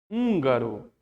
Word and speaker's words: húngaro: E o H no início aqui, ele tá mudo.